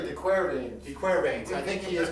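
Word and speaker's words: De Quervain's: Brad, today we're going to talk about, I say Quervains. It's really the Quervains.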